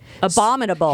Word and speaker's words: abominable: Heat Meister oh no the abdominal snowman okay abominable he he had been working out a lot that year so the Abominable Snowman did I say it wrong again no you got it this time okay God I'm like geez